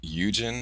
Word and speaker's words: Eugen: If I pronounce your name Eugen, am I pronouncing it correctly or incorrectly?